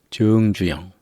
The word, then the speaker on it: 정주영: 그런데 현대 그룹을 만드신 정주영, 나라 정자를 쓰는데 이때는 정이라고 읽습니다. 길게 읽는 겁니다.